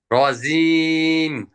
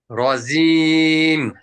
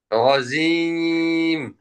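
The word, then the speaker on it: رجيم: ঘোড়ার সঙ্গে লেগে যায় তখন রজিম এটা যার উচ্চারণ হয়েছে সদস সিন জায়ের মাখাজ হয়ে যাচ্ছে এজন্য রজিম আরেকটা হচ্ছে রজিম রজিম এই যে বলছেন দেখেন রজিম বললে জিহ্বার আগা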